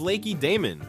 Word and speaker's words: Lacedaemon: They called themselves Lacedaemonians after the city of Lacedaemon, whose stress is mistakenly placed on the last syllable.